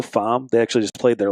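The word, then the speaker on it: Faim: a lot called um fam it's spelled f a i m it's pronounced like in French though fam they actually just played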